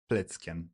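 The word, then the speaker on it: Plätzchen: So, self-made Christmas biscuits in Germany called Platinian. That's awesome. Once again, I will try to pronounce it. Platken. Platken. Yes, it's very good. Nice.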